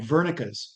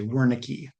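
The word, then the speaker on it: Wernicke: The next one is fluent aphasia and it used to and it is sometimes called Vernica's aphasia and a lot of Americans say Woricki.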